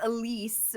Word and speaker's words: Elyse: conversation about your name everyone's just saying it wrong because it's actually French isn't it and then okay okay tell me about this so my my actual name is well I guess Elise but realistically it's Elis